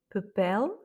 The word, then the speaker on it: papel: Et en tout cas, dès que vous voyez un mot avec la lettre L à la fin, c'est sûr que l'accent tonique se fait sur la dernière voyelle.